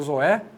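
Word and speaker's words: ζωή: Jesus está usando a palavra zoe, o zoé, né? Zoe é a pronúncia correta. O acento ele fecha, ele agrava a pronúncia.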